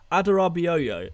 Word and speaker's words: Adarabioyo: Adarabioyo, is that... I'm Nigerian, that's how to pronounce his name.